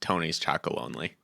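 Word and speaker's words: Tony's Chocolonely: I recently saw an ad for Tony's Chocolate Only, and they actually pronounced it, and it is in fact Tony's Chocolate Only.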